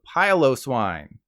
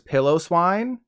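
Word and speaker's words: Piloswine: swine up pylose wine there's a decent number of you who pronounce it as pillow swine likely because you want to sleep on its comfy looking fur but you should have been thinking of piling on top of it and trying not to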